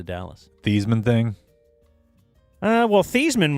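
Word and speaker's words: Theismann: Uh, well, Theman was changed to make it rhyme with Heisman.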